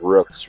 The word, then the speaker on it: Rooks: Mrs. Rooks rhymes with Brooks.